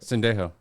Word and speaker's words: Sendejo: How would you say it? Sendejo. Sendejo. Yeah.